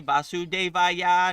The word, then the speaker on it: Vasudeva: Om Namo Bhagavate Vasudevaya Namaha. So that's Krishna's mantra. Vasudeva. That is Krishna. That is the proper way to say it.